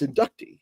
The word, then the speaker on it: Inducti: I had to ask them, and they were like, "Well, it's like Skitarii, it's Inducti," and I was like, "Oh, okay, that makes sense."